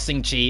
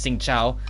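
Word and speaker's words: Xingqiu: It's not Sing Chi, it's Sing Chao.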